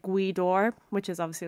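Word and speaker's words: Gaoth Dobhair: how to spell it i thought that like g-w-e-e like how it was finished phonetically pronounced in english and i remember thinking oh god i have to remember that's a place and spelt like how i would pronounce it as gwedor and i remember just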